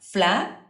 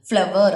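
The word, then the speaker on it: flour: நோ, அதை நம்ம எப்படி ப்ரொனவுன்ஸ் பண்ணுவோம் அப்படின்னா ஃப்ளார் ஃப்ளார் அப்படி தான் நம்ம சொல்லுவோம். ஃப்ளவர் அப்படி சொல்ல மாட்டோம். ஃப்ளவர் அப்படின்னு ப்ரொனவுன்ஸ் பண்ண மாட்டோம் இங்கிலீஷில்.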